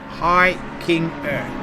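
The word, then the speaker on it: Heimgartner: Hikinger.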